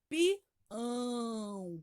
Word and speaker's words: pião: E o tio indica um som nasal, ele sai pelo nariz o som, ó, pião.